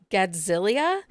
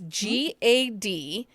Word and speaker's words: Gadziala: It's The Costa Family by Jessica Gadzilia. It's Gadziala.